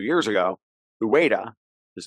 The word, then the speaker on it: Ueda: replaced Kuroda at the BOJ 2 years ago, Ueda, his name is Ueda, U-E-D-A, Kazuo Ueda. I'm terrible at pronouncing Japanese names because, well, I don't speak Japanese.